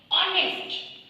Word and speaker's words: honest: Okay, but the sound H, it is silent. यहाँ पे H silent है. इसका sound किस तरह निकलता है? Like honest.